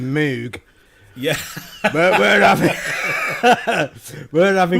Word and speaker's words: Moog: We've said Moog for a long time, but with the advent of the internet, we found out how it was really supposed to be I have to pronounced. hold my hands up and say that for many years it was just Moog for me. It's Moog. Mini until Moog.